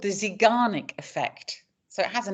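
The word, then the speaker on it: Zeigarnik: actual projects and tasks it's actually called the zanic effect so it has a name if you want to know how that's spelled and you want to look it up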